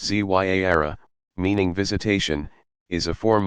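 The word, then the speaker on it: زيارة: Ziyara, pronounced Zyara, meaning visitation, is a form of minor pilgrimage still popular all over the world.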